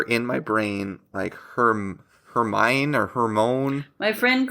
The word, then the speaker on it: Hermione: I think I called her in my brain Hermione or Hermone. My friend called her Hermione. Hermione.